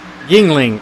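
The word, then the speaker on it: Yuengling: And I'm not even gonna try and pronounce that beer. It's a Youngling. Guess I just said Yingling.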